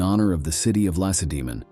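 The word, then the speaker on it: Lacedaemon: of the city of Lassa demon the stress of which is mistakenly placed on the last syllable even by experienced historians later on the city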